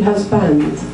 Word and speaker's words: husband: to understand really difficulty another good example is husband that it looks like it should be husband that we stress the first one we unstress for seconds as husbands and it's almost